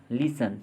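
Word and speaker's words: listen: T silent वाले words देखेंगे। हेसन, जल्दी करना। लिसन, सुनना।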